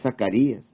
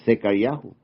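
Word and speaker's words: זכריה: Es Sofonyahu, no es Zacarías, es Secariahu.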